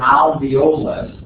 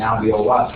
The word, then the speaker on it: alveolus: Now notice it's spelled alveolus or alveolus, A-L-V-E-O-L-U-S. I don't know, for whatever reason, a lot of people tend to forget that first L. And they go alveolus instead of alveolus.